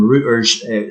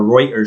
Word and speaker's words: Reuters: video this is from routers showing or Reuters should I say I think it's pronounced several Balkan countries including